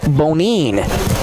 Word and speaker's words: Bonine: 1-2 and a clarification on the pronunciation, it is Zach Bonine.